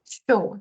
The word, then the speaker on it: chaud: Chaud. The D is silent.